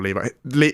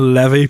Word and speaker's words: Levy: that yeah it was it's not Daniel Levi Daniel Levi makes jeans Daniel Levy perhaps oh yeah Daniel Levy